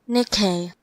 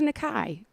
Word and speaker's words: Nikkei: it one more time Nikkei Nikkei got it I thought it was Nakai all righty well there